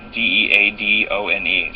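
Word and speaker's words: Deadone: her work it's nicole d-e-a-d-o-n-e spelled like dead one and she runs a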